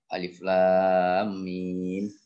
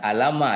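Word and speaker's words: الم: Bukan alama, ya, bacanya kan, bukan alama, enggak, tetapi alif lam mim gitu kan, sama dengan Kaf, ha, ya, ain, sod.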